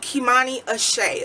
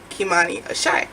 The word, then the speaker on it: Kimani Ashé: um and it's called kimani ashay okay and i will have the name right here so if you guys ever see that name floating around you know how to say it kimani a shy okay so what i